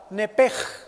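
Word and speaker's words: נפש: Esa palabra vida es la palabra hebrea nepesh. Con SH al final se pronuncia en hebreo la SHJ, nepej. Y siempre los judíos hacen nepej.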